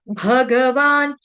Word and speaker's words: भगवान: भगवान वाच भगवान भ भालू वाला है यहां पर भग ग पूरा ग भी पूरा है भ भी पूरा है भ भालू वाला गमले वाला श्री भग भगवान वाच